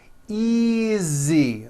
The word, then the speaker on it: easy: Easy. Again, the S is like a voiced Z.